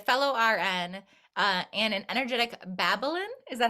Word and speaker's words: Babaylan: It's Babaylan. Babaylan. I knew I was going to pronounce it wrong, but yes.